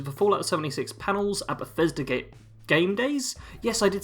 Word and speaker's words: Bethesda: really, which is the Fallout 76 panels at Bethesda Game Days.